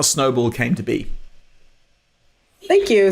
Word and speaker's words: Snoball: and she runs a firm she founded called snowball which is pronounced which is spelled s n s-o-s-n-o b